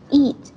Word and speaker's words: eat: Tại sao cô lại phải nhắc Nam Anh đọc kéo dài cái âm y dài này ra? Vì nếu như mà con đọc là âm y ngắn thì nó sẽ sang một từ khác luôn, đúng không?